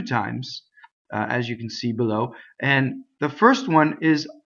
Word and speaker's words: bel: So the word bello is the long version of this word. Bel is open.